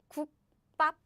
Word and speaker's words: 국밥: So what happens is, nope, I don't pronounce this softly. I pronounce this strongly as in 국밥, 국밥, name of the dish, 국밥.